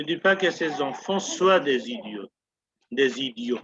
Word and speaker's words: soient: pas que ses enfants soient des idiots, pardon, we do not pronounce T, या il ne dit